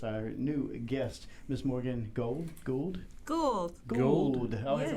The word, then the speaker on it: Gould: And tonight you'll notice our new guest, Miss Morgan Gould. Gould. Gould? I always Yes. want to mess Gould. up Gould. It's not gold. There's a U in there.